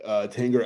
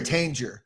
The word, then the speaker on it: Tanger: Is it Tanger or Tanger? They said Tanger on the show. It's Tanger. Yeah. It's like GIF. It's a hard G.